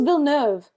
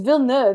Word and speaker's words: Villeneuve: I thought it was Villeneuve. I don't know how it's pronounced. It's Villeneuve. It's Villeneuve. He's French. He's French. It's a French name.